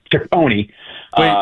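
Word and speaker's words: Cecconi: the big leagues, you know, uh, Slade, Slade Sakone, I always want to say Chaone."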